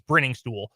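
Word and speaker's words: Briningstool: Your options, by the way, Noah Gray, Jared Wy, and Jake, I mispronounced it. It's Bringing Stool.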